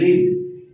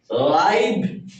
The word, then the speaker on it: live: ভার হিসেবে ভার্ব হিসেবে ব্যবহৃত হয় তখন এটার উচ্চারণ হবে লিভ। লিভ অনেকটা এরকম। ঠিক আছে? অর্থাৎ যদি এটা নাউন এডজেক্টিভ এডভার্ব হিসেবে ব্যবহৃত হয় তখন এটার উচ্চারণ হবে লাইভ।